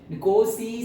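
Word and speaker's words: Nkosi: निकोसी सीकेल, एन थोड़ा silent है।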